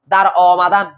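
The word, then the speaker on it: درآمدن: এটা ফারসি মাসদার কি দিছে দেখো, দার অমাদান, দার অমাদান, অ কেন হচ্ছে বুঝছো তো? আলিফটাকে আলিফে মামদুদে, যার উচ্চারণ কিসের মতো? অয়ের মতো।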